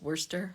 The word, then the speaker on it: Worcestershire: the British cities like Worcestershire which is worser right um some sweet